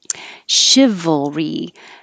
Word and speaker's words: chivalry: Chivalry. Shiv. Looks like CH, sounds like SH.